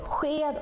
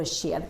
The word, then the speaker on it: sked: Either sked or sked, both are correct. If you say sked, you're gonna talk more like the king. If you say sked, you're gonna talk more like me.